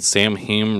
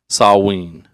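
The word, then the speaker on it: Samhain: Burl burville Rhode Island um you're probably saying Sam he wrong how's you say sam Hayne the word is pronounced samw sa saween saween huh showing pumpkins did you know this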